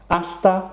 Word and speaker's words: hasta: hasta pronto hasta pronto we don't pronounce the H in Spanish listen again hasta pronto have a nice